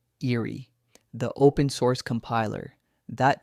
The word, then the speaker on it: IREE: What is IREE, pronounced eerie?